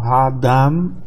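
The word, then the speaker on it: האדם: Então, Ha-Adam, mesmo que a tônica está no final, o meteg indica que não é para pronunciar O.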